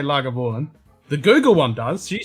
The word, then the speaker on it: Lagavulin: copped it in right so phonetically she put it out this is just said lagavulin lagavulin that's it that's fantastic yeah it's